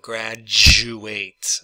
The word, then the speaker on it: graduate: Okay, so because the U has the Y sound in it, that pretty much combines with the D to make some kind of a J sound. Graduate.